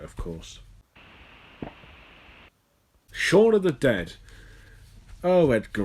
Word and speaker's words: Shaun: Well, I mean, I know the title's supposed to be a piss take on Dawn of the Dead because Shaun rhymes with Dawn.